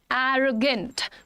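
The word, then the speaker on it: arrogant: एरोगेंट pronunciation क्या है? एरोगेंट. एरो, ए और ओ पे, एरोगेंट.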